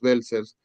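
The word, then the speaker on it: Welser: En alguna parte en que se hable de los belcers, ah, se pronuncia así, los Belcer, eh, que era una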